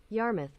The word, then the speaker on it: Yarmouth: Yarmouth. Yarmouth. Yeah. Yarmouth. Yep, I was right. It was Yarmouth. I knew I was pronouncing it wrong.